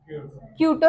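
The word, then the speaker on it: Kyoto: सुना आपने कहीं के वाई ओटी क्यूटो ही प्रोनाउंस करते हैं इसको प्रोटोकॉल अगर कोई कुछ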